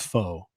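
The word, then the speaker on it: pho: __ ] it's it's foe it's foe Oh the Vietnamese noodle soup yeah it's foe oh yeah I'm not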